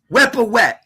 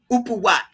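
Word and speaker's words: Wepwawet: That is Ampu or Wepawet, Upawat, Wepawet, however you want to pronounce it.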